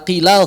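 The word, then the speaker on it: قيل: Tapi alhamdulillah Imam Asim tidak membaca dengan ismam. Kita baca qila saja biasa. Qila, begitu.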